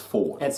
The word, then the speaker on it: Fjord: It's Ford. Well, they pronounce it as Ford, but it is spelled Fjord.